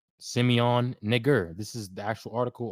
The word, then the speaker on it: Niger: was uh that was called Niger that's the actual uh that's how you pronounce it if you go to